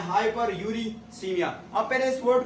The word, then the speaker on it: hyperuricemia: इसका प्रोनाउंसिएशन है हाइपरकैल्सीमिया और इसका मतलब है हाइपर ऑक्सिलूरिया और इसका नाम है हाइपर यूरिसीमिया।